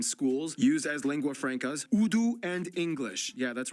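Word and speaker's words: Urdu: used as lingua frankas udu and English yeah that's right it's pronounced udu not that's good to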